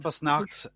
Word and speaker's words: Krampusnacht: Krampusnacht is correct. Well, they kind of roll the R, which I'm not...